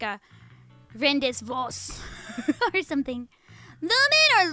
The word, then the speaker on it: Lumin: Lumin or looming? Lumin. Good thing Colonel Isolde is very experienced. I'm Lumin and bloomin', wheeling and dealing.